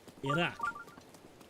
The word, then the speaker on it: Iraq: It is Iraq. Like that is the closest way to correctly pronounce it.